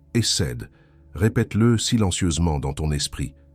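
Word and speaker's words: חסד: Il s'écrit HSD et il se prononce essède.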